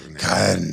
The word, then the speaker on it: Carne: Carne.